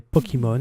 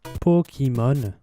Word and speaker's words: Pokémon: C'est un peu comme les Pokémon, ils sont partout. Oui, moi je prononce Pokémon, alors qu'en français, éventuellement, c'est Pokémon. Mais je préfère Pokémon.